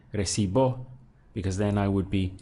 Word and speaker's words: recibo: I'm saying I sing if we take say recibo now we have three syllables because we have array.c bow so again I stress the syllable before last which is going to be this one so be ready that's